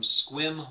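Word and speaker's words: Sequim: last up this week is a question from squim Washington I know how to pronounce it cuz I used to live up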